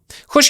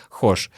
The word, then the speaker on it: хочешь: Хочешь, я к тебе приеду? Хочешь, я к тебе приеду? Хочешь, я к тебе приеду? Слышите? Не хочешь, а хошь.